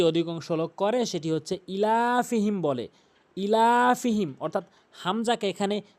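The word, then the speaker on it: إِيلَافِهِمْ: লোক করে সেটি হচ্ছে ইলাফিহিম বলে ইলাফিহিম অর্থাৎ হামজাকে এখানে টেনে পড়ে না হামজাকে অবশ্যই এক আলিফ টেনে পড়তে হবে ইলাফিহম ইলাফিহিম এবং টানবো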